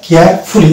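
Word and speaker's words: carefully: এই জিনিসটা থাকে সেক্ষেত্রে কিন্তু আমরা ইউ এর উচ্চারণটা করবো না। এরকম শব্দ যেমন হচ্ছে এটা কেয়ারফুলি, আমরা বলি কেয়ারফুলি, কিন্তু এটা ফুলি হবে না, কেয়ারফুলি, কেয়ারফুলি।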